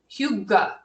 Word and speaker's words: hygge: If you've ever been in an IKEA, you might have a little practice with this, but it's spelled differently than it sounds. It's hygge, and I never feel comfortable saying it, but I feel comfortable in it.